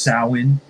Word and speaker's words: Samhain: If you want to be technical, it's pronounced sah-win.